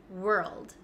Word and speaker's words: world: go over this one we pronounce this world world okay let's go step by step because I know this one isn't the easiest so if you know